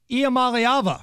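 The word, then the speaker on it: Iamaleava: I can't say his name what's his name IAM malava thank you I knew you'd get that you're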